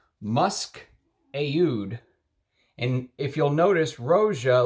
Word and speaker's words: oud: And that's how the people in the Middle Eastern countries pronounce oud, Aoud.